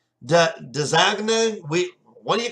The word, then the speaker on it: DAZN: When DAZN first came out, we didn't even know how to pronounce it because it was so new that it was like Dazagna.